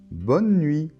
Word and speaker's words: bonne nuit: Alors, on voit qu'on ne prononce pas la lettre E finale, hein, bonne, et pas bonnet, bonneux, non, bonne. Et la lettre T finale ne se prononce pas non plus.